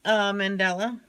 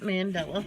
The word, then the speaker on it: mandala: Another choco toucan in the mandala. That's pretty cool. Mandala, not Mandela.